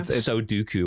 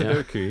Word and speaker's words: Sudoku: She also mispronounces Sudoku, which is funny. Like Soduku or something like that. Sudoku.